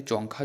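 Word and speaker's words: Dzongkha: जाता है, ये है जोंगखा। डी जो है साइलेंट रहता है, तो याद रखिए जोंगखा जो भाषा है ये भूटान की भाषा है।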